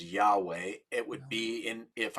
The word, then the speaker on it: Yahweh: significant right well it's four hebrew letters pronounced often as yahweh it would be in